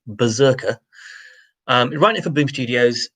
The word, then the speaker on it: BRZRKR: He's going to write a comic for Boom Studios called, now, they're spelling it in all uppercase letters, BRZRKR, which I'm presuming they're pronouncing Berserker.